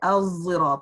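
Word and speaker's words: الصراط: A heavy zay, al-zirat. It's called as-sad al-mushamzayan. So a sad with the smell of zay.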